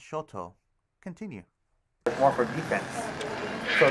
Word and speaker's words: shoto: known as the pseudoblade which is smaller actually pronounced shoto continue more for defense so these are just